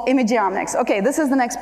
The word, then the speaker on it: imageomics: It's the omics of images, so it's imageomics.